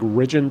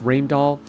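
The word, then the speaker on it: Rijndael: the symmetric crypto there's rainall it looks like rigin but it's pronounced rainall it is unfortunate that is chosen that should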